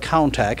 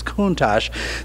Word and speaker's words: Countach: And if you read the word, it looks like Countach. And I had to read in Auto Week magazine, they explained how to pronounce it, that it's Countach.